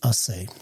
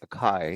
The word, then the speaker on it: Acai: undisclosed minority investment in assay. Ash, are you glad I went to the source to make sure we can pronounce it correct? Yeah, because I was going to butcher it and call it Akai.